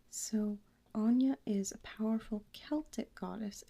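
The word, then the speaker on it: Áine: So, it is pronounced Anya. Okay, Anya. So, Anya is a powerful Celtic goddess and fairy queen who gave birth to incarnated fairies from her romances with mortal men.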